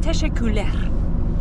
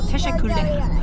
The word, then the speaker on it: Teşekkürler: Und es ist sehr schwierig natürlich für uns mit der Aussprache, wegen dem R. Das machen ja so. So zum Beispiel Dankeschön oder Danke heißt Teşekkürler. Oder so, Teşekkürler.